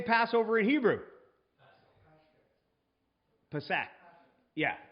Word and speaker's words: Pesach: Pesach. Yeah, Pesach, right?